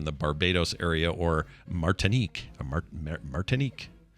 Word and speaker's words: Martinique: barbados area or martinique martinique i think is how you say it yeah you said it perfectly if you find this